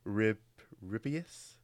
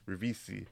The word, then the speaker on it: Ribisi: I'll try and pronounce the main actor's name. Okay. Giovanni. Oh yeah, that's fine. Yeah, Giovanni Ribbius. Oh yeah. Yeah. Giovanni. Ribisi.